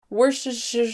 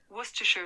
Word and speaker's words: Worcestershire: from uh reader's digest skip pronouncing the first r all together and the ce and barely say the second r start the word off by saying wooster and then finish off with the british shire woostershire that's not how